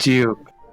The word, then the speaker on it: Juic: Yeah, shoutouts to Juic or Juice, however you pronounce it. Great guy. Juice. It's actually Juice. Juice? Got it. Juke. Oh no. Here we go. A debate. Yeah, I'm part of the Juic I call him Juke.